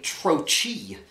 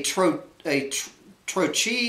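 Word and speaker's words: trochee: You know, a single-syllable expletive insult followed by a troche. A troche is a two-syllable word where the first sound is stressed like puffin or womble.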